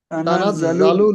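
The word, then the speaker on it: تَنَزَّلُ: তানাজ্জালুল তানাজ্জালুল তানাজ্জালুল, জা টান দেবেন না, তানাজ্জালুল তানাজ্জালুল, তানাজ্জালুল।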